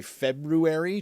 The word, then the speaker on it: February: know the reason that around my kids I say February just in the hopes that they might pronounce words correctly when they grow up and not sound like bunch of yokal hicks so you pronounced the r in February uh this the first r rather than both you proun both right